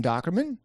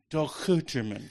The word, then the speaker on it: Dochterman: It's Duchan.